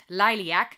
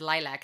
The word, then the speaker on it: Liliac: I said it wrong in my last reaction video. I said lilac, like the color, the flower. But the band's name is Lilac, and that is actually Romanian for bat.